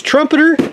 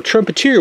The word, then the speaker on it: Trumpeter: scale hurricane by uh you need to say it two ways trumpeter or trumpet ear which I've heard that pronounced as well which the gentleman who